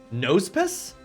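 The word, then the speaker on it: Nosepass: the way wait am is nose pass supposed to be pronounced nose pus like Compass so nose puss I don't like it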